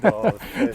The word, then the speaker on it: Dolph: And Dolph. Nice to meet you. Dolph? Spelled like golf with a D.